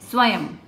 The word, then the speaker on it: स्वयं: स्वयं मीन्स होता है खुद, और जब इस स्वयं का हम उच्चारण कर रहे हैं, म की साउंड आ रही है जिसके नाम पे ये हमने बिंदी लगाई है और वो हम लास्ट में लगाते हैं, य के बाद, स्वयं। ठीक है, आगे बढ़ते हैं।